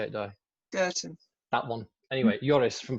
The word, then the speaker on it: Goethen: Well, they're not very good at Dutch pronunciations. Belgian. How do you say it, Di? Goethen.